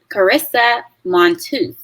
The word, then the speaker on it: Carisa Montooth: special guest with us her name is karis karissa montooth am i pronouncing your name right you are yeah okay